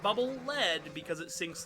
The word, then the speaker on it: Bubble Lead: and has stated that it is in fact bubble lead because it leads you along for forward not bubble lead because it sinks like